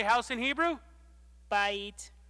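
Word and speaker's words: בית: i'll that's right so everyone say bye eat bye eat everyone say house house say that's a nice house i think i'll buy it that's a nice house i think i'll bite so how do you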